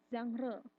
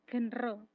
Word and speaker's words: genre: Genre, bacanya bukan genre, genre.